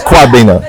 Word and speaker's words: Kwabena: I can't pronounce the other part. Kwabena. It's Kwabena.